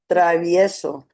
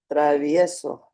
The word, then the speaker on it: Travieso: You didn't pronounce all of the vowels. Travieso. Travieso. See?